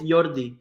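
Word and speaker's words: Yordy: You pronounce it 6 Flags. No, it's Kind of you, funny. you had it. It's Jordi.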